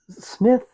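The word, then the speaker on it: Psmith: a little bit less of this one because Smith silent P Smith is just not an enjoyable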